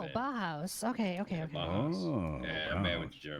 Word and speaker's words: Bauhaus: This is Boha. All Yeah, right. it's a German Oh, band. Bauhaus. Okay. Yeah, Okay. Bauhaus.